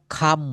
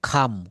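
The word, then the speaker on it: come: এই কামকে আমরা খাম বলব। খাম।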